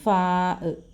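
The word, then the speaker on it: فاء: ശബ്ദം എടുത്താണ് ആന് ഇത് ആന് എന്ന് പറയും ആന് ഉച്ചാരണം ശബ്ദം വരുമ്പോഴേ അറിയാൻ പറ്റുുള്ളൂ അടുത്ത അടുത്തത് ഫാ നമ്മൾ ഫലത്തിന്റെ ഫ എഴുതത്തില്ലേ ആ ഫാ അടുത്തത് കാഫ്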